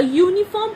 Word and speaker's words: uniform: Again, a uniform policy, uniform, again W, uniform. Sorry, uniform, Y-double-O, uniform.